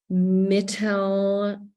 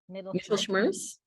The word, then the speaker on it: Mittelschmerz: Mittelschmerz. Mittelschmerz.